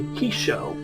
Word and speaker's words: Hissho: We are playing as the Hissho, which I have been reassured is the correct pronunciation by the game, so if it's wrong, I apologize.